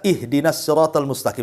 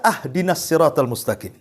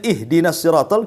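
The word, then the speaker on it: اهدنا الصراط المستقيم: salah saja pengucapan batal contoh umpamanya kita baca ihdinasiratal mustaqim kan begitu kita baca ahdinasiratal mustaqim harusnya di kasrah kita fathah pula tuh harusnya ihdinasiratol kita katakan ahdinasiratol itu kan beda artinya kalau ihdina Ya Allah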